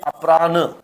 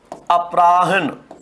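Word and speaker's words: अपराह्न: हैं हम वो उसमें गलती क्या होती है अपरान और शुद्ध क्या होता है इसका अपराहन ऐसे होता है और कई बार ऐसा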